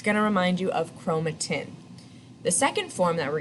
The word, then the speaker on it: chromatin: the first one is chromatin chromatin is long and thin right tin rhymes with thin so that's a good